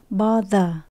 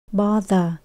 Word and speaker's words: bother: từ này chữ the Các bạn thấy bắt đầu bằng chữ th mình để lưỡi giữa hai răng nha bother bother và cuối cùng mình